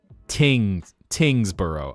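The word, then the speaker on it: Tyngsborough: Probably for me, I would say pepperell and Tyingsboro. Or, yeah, Pepperell and Tyingsboro. That's how I would guess those two are pronounced. Which is an assumption. That? Tingsboro.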